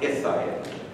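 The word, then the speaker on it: Al-Sayyid: It's actually pronounced Isayed.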